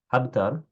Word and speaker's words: حبتر: حبتر بحاء محملة مفتوحة، ثم باء موحدة ساكنة.